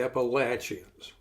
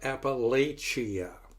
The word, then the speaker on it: Appalachia: just a subset you might say of the Appalachians and for those of you who don't know here is a public service announcement that may save you a little bit of embarrassment it's not Appalachia that's not how it's pronounced it's Appalachia which